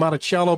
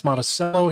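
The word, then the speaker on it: Monticello: Is that It's supposed to be Montichello, but it's Monaceel here.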